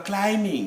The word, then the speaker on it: climbing: When you are going up a tree, you are climbing, not climbing.